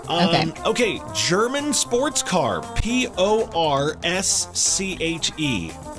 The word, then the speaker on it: Porsche: P O R S C H E. I always say Porsche, but it's like Porsche, isn't it? It's Porsche. Yes.